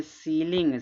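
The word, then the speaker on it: ceiling: निकल रहा है यहां पे इ आई का उच्चारण देखो बड़ी ई का मात्रा निकाल डिसीव डिसी माने धोखा देना इसको पढ़ेंगे सीलिंग सीलिंग माने क्या होता है छत होता है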